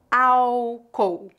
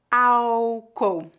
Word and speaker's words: álcool: sílabas é pronunciada como álcool álcool nós não pronunciamos o l foneticamente não há letra L nesta palavra álcool álcool vamos ver